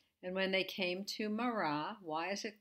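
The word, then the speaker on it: מר: the resh together make a word which is mar which means bitter in genesis 24 37 and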